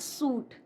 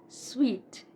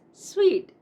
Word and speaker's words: suite: It is not suit. It's sweet. It's sweet.